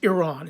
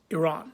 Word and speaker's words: Iran: of your country incorrectly I believe it's Iran it's not Iran it's not Iran it's Iran so if please I'm